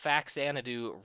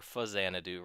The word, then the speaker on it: Faxanadu: This is the Faxanadu Randomizer, or Fuzzanadu Randomizer, depending on your pronunciation of that.